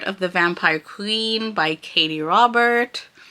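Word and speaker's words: Katee Robert: the Vampire Queen by Katie Robert. Yeah, there's no S on that. I said it right.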